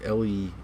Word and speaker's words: Lehman: Is it Lehman or Lemon? It's Lehman anyway.